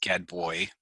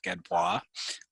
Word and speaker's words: Gadbois: last name Gadbois and get boy they'll drop the s sometimes but I I go with the French pronunciation because growing up I